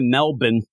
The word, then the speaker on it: Melbourne: then we go to Melbourne Australia as we say it's pronounced Melbourne so you end up